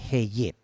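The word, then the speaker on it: אהיה: Y que se pronuncia más o menos como una H, Ehyeh.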